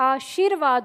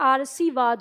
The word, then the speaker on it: आशीर्वाद: इसका उच्चारण करेंगे इसलिए यह आशीर्वाद होता है अगर हमने यहां पर र लगाया तो यह आर सवाद हो जाता है इसका उच्चारण इसलिए गलत हो जाता है ठीक है अब